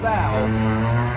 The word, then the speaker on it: bow: Uh, because I live on a boat, I I know how to say this. Here we are on the the bow. On the bow.